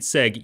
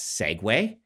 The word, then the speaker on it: Segway: So please tell me that you didn't, more than just pronouncing it Seg, you pronounced it with a French accent.